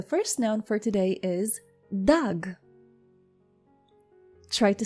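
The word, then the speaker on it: דג: So once again, how do you say fish in Biblical Hebrew? You say dag. Dag.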